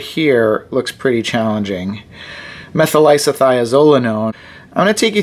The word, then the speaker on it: methylisothiazolinone: Now we're going to say isothiazolinone. Next and last is methyl. We had just said isothiazolinone, and now we'll say methylisothiazolinone.